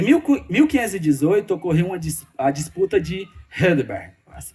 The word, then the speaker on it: Heidelberg: Em 1518, ocorreu a disputa de Heidelberg. Se pronuncia assim.